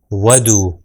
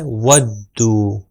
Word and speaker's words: وَدُّوا: صحیح تلفظ کیا ہے، ودو، ودو۔ اب جو بھی حرف آ جائے گا اس کے اوپر تھوڑا سا رک کر اسٹریچ کر کے آگے بڑھنا ہے، ودو، ودو، ودو۔ اب